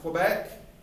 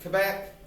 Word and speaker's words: Quebec: You can hear it pronounced Quebec, Quebec, Quebec. If you hear the Beck, that's what we're talking about.